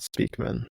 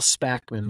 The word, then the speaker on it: Spackman: Neil Speakman, not Speakman. Neil Spackman.